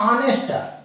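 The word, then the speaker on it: honest: एन ई एस टी इसका उच्चारण हो रहा है ऑनेस्ट नेस्ट ये जबकि लिखे हैं कंसोनेंट से शुरू हो रहा है अक्षर का प्रारंभ कंसोनेंट से लेकिन उच्चारण आ रहा है वावे से ं स्वर से आ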